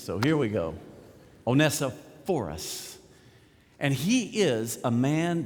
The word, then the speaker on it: Onesiphorus: I think the correct pronunciation is Onesiphorus, because the accent in most of the biblical dictionaries that you look up this name, the accent is on the PH sound. So you got to get the accent on the right syllable for it to make sense.